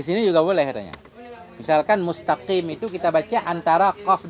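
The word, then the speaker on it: مستقيم: Misalkan mustaqim itu kita baca antara qaf dan kaf.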